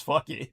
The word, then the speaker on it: Phuket: Remember I told you guys about Phuket, and it's actually pronounced by the Thai people as fucky.